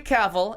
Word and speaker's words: Cavill: note same song um Henry Cavill and you it rhymes with travel I found it out